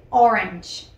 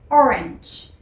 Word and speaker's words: orange: este caso se dice Orange Orange hacemos un cambio de vocal de la a por la e y la terminación sería como una ch Orange Orange vamos con la